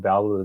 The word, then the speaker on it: Belleville: So I'll start with my Belleville International.